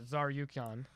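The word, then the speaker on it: Tsarukyan: Armin Tasarukyan. Sarukian. I'm so fucking sorry, guys. Sarukian, because the T is silent. I'm such a disrespectful piece of shit. The TS is a Zar. Yeah. Yeah, Zarukian.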